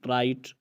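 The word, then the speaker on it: right: राइट, जी एच टी आया हुआ है और इसमें जी एच खामोश है।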